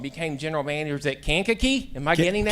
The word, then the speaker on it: Kankakee: And then finally, I'm going to get this one wrong, became general manager at Kankakee. Am I getting that Kankakee. right? All right. Marky gave me a pronunciation lesson beforehand.